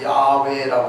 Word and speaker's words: 야훼: 여호와인데 우리 말로는 여호와 그러지만 이 원어의 발음으로 하게 되면 야훼라고 해야 되는, 야훼라고 해야 되는데, 선교사님들이 우리나라 가가지고 야훼 그러니까 우리 어른들이, 옛날에 사시던 어른들이 뭔 소리요?